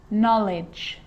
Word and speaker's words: knowledge: you know this one a k is not pronounced when it comes before an n like knife no no knock not knowledge the letter l can